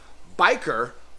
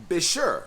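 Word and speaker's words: Bichir: ways of saying bisher biker berer or bisher like my boy Blake said so I learned something new I hope you guys learned something new I prefer bisher that's just the way I've always pronounced it and I can't believe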